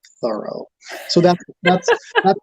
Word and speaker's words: Thoreau: journal dined with mr thorough t-h-o-r-o-w um then another time bronson alka wrote uh henry is well named because he is so thorough so that that's how